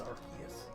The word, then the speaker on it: Arceus: And the legends don't possess Arceus. Arceus? I don't know. I pronounced it both ways. I do. I believe they are implied that it's a hard K. Hard C.